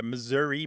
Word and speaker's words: Missouri: phone surveys is that the Missouri pronunciation was taking over and the Missoura pronunciation was disappearing except as you say